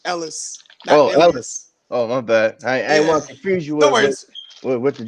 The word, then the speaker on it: Ellis: go oh by the way you said my name wrong it's Ellis Oh Louis Oh with the Dre head dude